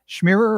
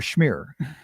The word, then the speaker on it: Schmier: Schmierer or Schmier? Schmier. Like on a bagel. On a bagel. Okay. There's no second syllable there.